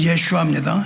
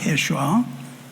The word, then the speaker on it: 예슈아: 예수의 이름은 예슈아입니다. 예슈아. 예슈아의 이름을 헬라오로 썼다고요. 성경은 헬라로 써서 읽으니까 뭐라고 읽어지냐면 예수스라고 읽어집니다.